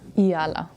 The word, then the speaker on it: Eala: how do you actually what's the exact correct way of pronouncing your last name yalaa yeah so I say Alexander yala yeah okay um in